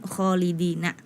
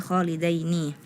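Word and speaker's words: خالدين: kemudian di ayat ke-10 kholidina fiha tadi dibacanya kholidaini memang itu hampir sama di surah Al Hasyr kalau surah alhasyr kholidaini dia memang berharakat fathah Tapi kalau ini di surah attagabun kholidina bukan kholidaini kemudian di surah attalaq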